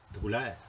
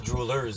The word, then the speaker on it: Droulaire: Alain, comment tu prononces ton nom de famille? Droulaire. Droulaire. Mais c'est d'origine... Belge et français. OK, fait qu'on peut pas dire droolers, finalement.